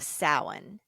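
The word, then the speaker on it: Samhain: Celtic tradition it's known as a festival of sowan spelled s-a-m-h-a-i-n but pronounced Saline so as the season shifted and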